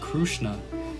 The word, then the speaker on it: Krishna: universe addressed as krishna in this part of india the name krishna is pronounced krsna because of different languages